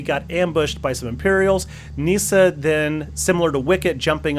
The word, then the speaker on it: Kneesaa: and lucasfilmer said in fact that is indeed Nisa so she goes all the way back to cartoons and if you doubt the pronunciation of the name go back and watch